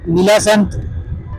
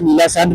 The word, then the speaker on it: Neela Sandh: अच्छा जी ये नीलासंत या नीला सांड बोलते हैं अक्सर लोग। आई डोंट नो मुझे कमेंट्स में आप बता दीजिएगा। तो मेरी नॉलेज के मुताबिक तो प्रोनाउंसिएशन इसकी नीला सांड बनती है।